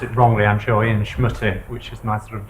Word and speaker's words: Schmutte: In the United States, I pronounce it Schmutte. When I come to when I come to Europe, I just say Schmutte because it makes it easier for everybody to understand what I'm saying.